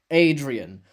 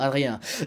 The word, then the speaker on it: Adrien: I can't say Adrian. Oh my god, it sounds horrible. Adrien. I'm gonna start saying Adrien. That's how they say it in the Portuguese version. It's how I started watching it, and it sounds so much better than Adrian.